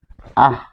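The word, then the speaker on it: আঃ: তো দুই নাম্বার নিয়ম বিষয়সূচক অব্যয় শব্দে বিসর্গের উচ্চারণ শোনা যায়। দুই নাম্বার যে নিয়ম হচ্ছে বিসর্গযুক্ত। যেমন আহ এটি যদি বলি তখন আমরা বলি যে আহ।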